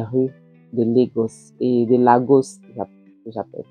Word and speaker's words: Laos: de legos et de Laos j'appelle prononce ça en français Laos en français on prononce la dans les rues de